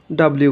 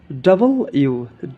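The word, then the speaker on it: W: তারপর এটা আমরা ডাব্লিউ উচ্চারণ করি, কিন্তু এটা সঠিক উচ্চারণ হবে ডাবল ইউ, ডাবল ইউ, ডাবল ইউ।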